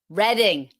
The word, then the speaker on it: Reading: Reading, not reading. It's not reading like the verb. It's reading like the color.